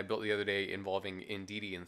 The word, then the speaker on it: Indeedee: the other day involving in DD and Fievel this time I didn't mispronounced it I keep saying indeed Oh thievery for some reason for some reason to keep doing that so leave a like